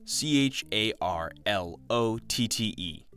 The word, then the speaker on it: Charlotte: this whole time I've been spelling it as c h a r o l e TT e and pronouncing it Charolette but in reality it's c h a r l o t t e charlet Charlotte whatever makes me feel like an